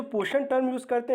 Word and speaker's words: पोषण: तो इसमें जो है आपका ये साइलेंट हो जाता है, ये साइलेंट हो जाता है। अब देखिए POSHN, तो ये होता है पोषण का एक्चुअल में, ठीक है ना।